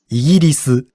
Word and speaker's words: イギリス: 영국은 イギリス、 이기리스라고 합니다. 이상하죠?